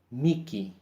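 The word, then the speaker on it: mihi: Cuando la H viene en medio de dos I, se pronuncia como la K, Miki.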